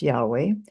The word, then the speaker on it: Yahweh: reading the scriptures and today many scholars believe the name was likely pronounced Yahweh however others use uh